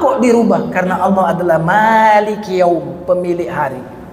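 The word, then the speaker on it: مَالِكِ: Karena Allah adalah maliki yaum, pemilik hari. Jadi kalau mimnya panjang artinya pemilik. Tapi kalau mimnya pendek maliki yaumiddin.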